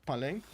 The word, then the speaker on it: Palenque: Yes, he is fairly certain that neither of the E's in Palenque is silent. Okay, yeah, okay. Palenque.